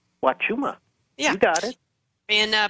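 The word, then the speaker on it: Huachuma: And I don't actually know the correct way to pronounce Wachuma? Wachuma.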